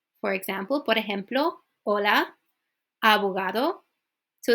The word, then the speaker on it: abogado: it's not abogado okay I noticed a lot of my students they like to say the last letter like a really hard o is O short and simple like that so Avogadro Amigo organization